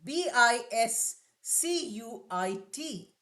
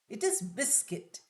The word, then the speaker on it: biscuit: Although U sound is there in writing but in speaking that oo sound is not there. It is biscuit.